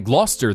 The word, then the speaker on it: Gloucester: I was going to say Glouster. That is how you would say that one.